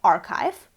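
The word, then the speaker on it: arXiv: the principle of openness is a website called archive which spelled like this which is a place where scientists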